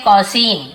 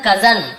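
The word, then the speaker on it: cousin: है, इसे बहुत से लोग क्या पढ़ते हैं, कॉसिन, क्या पढ़ते हैं, कॉसिन, लेकिन ये कॉसिन नहीं है, इसे क्या था, कजन। अब आप बोले सर कहाँ से कजन आ गया, लेकिन इसका एक्चुअल प्रोनाउंसिएशन है कजन।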